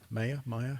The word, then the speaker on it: Maya: Maya, how do you pronounce that?